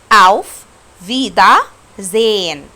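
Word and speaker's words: Auf Wiedersehen: طب النطق الصح ايه؟ اوف فيدا زين.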